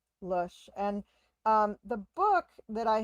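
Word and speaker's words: Lösche: It's just L-O with an umlaut over it, S-C-H-E. Lush.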